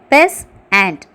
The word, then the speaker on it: peasant: 7th one, peasant, pes and 2 syllables.